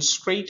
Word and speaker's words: straight: And in straight also, G has no sound.